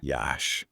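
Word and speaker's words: Iași: a city with character pronounced yah by the way Yash okay I'm already intrigued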